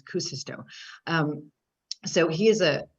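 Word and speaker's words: Kuusisto: acoustico is um and it's actually k-u-u-s-i-s-t-o so i always want to stick an extra you in there so forgive me if i do but i heard him pronounce it myself and as kucisto um so he is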